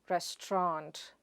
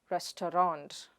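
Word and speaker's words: restaurant: The next word is rest-ta-ront or res-tront.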